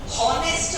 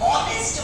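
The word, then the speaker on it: honest: हॉनेस्ट मैन नहीं बोला ना अपन ने, ऑनेस्ट बोला। हाँ तो हमारा कॉन्सोनेंट है, वो एक साइलेंट हो गया तो अपन ने ऑनेस्ट मैन कहा, तो अब अपन ने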